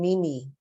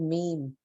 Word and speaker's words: meme: was teaching this and he said Miss it's pronouncing Mimi I went really I saw I didn't know that I've always said meme anyway I found out he was he was full pulling my leg and I actually went